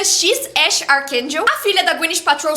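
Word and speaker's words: X Æ A-12: Não dá para esquecer o nome do filho do Elon Musk, que é X AE a- 12, mas que pronuncia X Ash Archakel.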